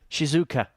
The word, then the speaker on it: Shizuoka: How do you pronounce it, Henry? Look, there. 58 Shizuoka That's what I said, wasn't it?